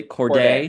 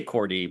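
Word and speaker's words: Kordey: Corday. Corday. I say Cordy, but Corday, but I'm from Florida, so excuse me.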